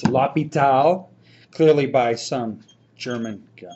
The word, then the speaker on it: L'Hospital: It's actually not pronounced La Hospital. If you do, I'll look at you strangely. It's Lapal, clearly by some German guy, I'm kidding, named Bob.